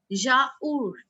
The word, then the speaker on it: yaourt: Laser and yaourt. Yaourt. What is yaourt? Yogurt. Then in the end we have What is the pronunciation of yogurt?